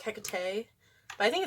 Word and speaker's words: Hekate: But in Greek, they say to pronounce it like Hekate, Hekate. So like Hekate, Hekate, Hekate, Hekate in Greek. And then in Shakespearean, it's Hecate.